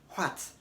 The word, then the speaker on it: what: don't want to say what what say what ignore the pronunciation of H and pronounce the word as if there were no h as in w80 what